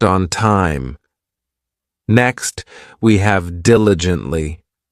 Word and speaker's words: diligently: Next, we have diligently. This adverb has four syllables and the stress is on that first syllable diligently.